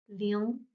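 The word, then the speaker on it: 零: L, ing, l, ing, ling. Second tone, ling, means zero, the number.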